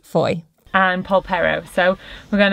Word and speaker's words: Fowey: me at yesterday fairy although I know that's not how you say it FY I can't remember how the man told me it yesterday Foy it's pronounced Foy and Pao so we're